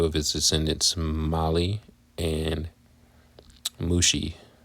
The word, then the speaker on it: Mushi: The clans descended from Merari were named after 2 of his descendants, Mali and Mushi. Rhymes with sushi.